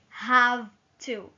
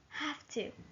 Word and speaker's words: have to: to have to don't we don't say have to no no have to you hear a little F between ha and to have to have to